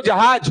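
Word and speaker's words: जहाज़: जहाज बोलो जहाज जहाज पहले वाला ज कहां टच किए आप नीचे और अंतिम वाला ज जहाज अच्छे से बोलो उच्चारण सही करो जहाज लास्ट वाला जो ज है वो ऊपर से टच होगा और वही बाहर का वर्ण है और वही विदेशी शब्द है कैसे पहचानो जब आप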